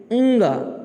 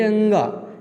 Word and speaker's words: ङ: तो ये है अंग, इसको बोलेंगे अंग, यानी कि अंग नहीं बोलेंगे, अ थोड़ा साइलेंट होगा, अंग बोलेंगे, अंग।